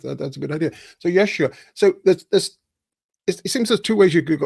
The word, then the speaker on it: Yeshua: how do you say the the the Jewish pronunciation Yesa Yeshua Yeshua Yeshua sorry the book to I mean